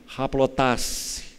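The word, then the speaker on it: ἁπλότης: palavra, se formos transliterar, ela seria escrita assim, aplotês, aplotês. A pronúncia no grego é haplotasse. Então, essa palavra haplotasse significa ser sem dobra.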